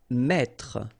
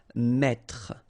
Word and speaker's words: mettre: Okay, so here you've got this and then you've got double T here. Okay, so the thing when you get this double consonant, so it must be the same, just after this then it will open the sound of so you will get the sound E. That's the reason why you will pronounce mettre, mettre. Don't insist on the final E.